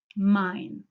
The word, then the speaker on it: mein: german is a compare that to e and i which is actually pronounced i mine and mine and then there is